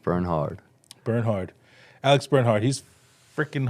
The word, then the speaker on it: Bernhard: Silent K, silent H, but pronounce the H. Bernhard.